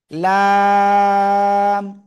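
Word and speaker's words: لام: লাম। জিহ্বার আগার কিনারা উপরে মাড়ির দাঁতের গোড়ার সাথে লাগাবেন, লাগিয়ে 1 2 3 4 চার আলিফ টেনে পড়তে হবে।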